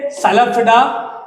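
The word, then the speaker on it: Psilopsida: सी से साइलोप्सिडा, इसको P silent है, साइलोप्सिडा पढ़ा जाता है।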